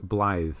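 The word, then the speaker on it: Blaidd: And what we're doing here is Blythe. I know it's spelt Blade, but it's Blythe apparently.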